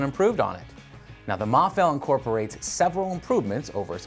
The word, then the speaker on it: Mafell: more info over bosch tools calm slash freak mah fell as it turns out that's how it's pronounced and it's a good thing we figured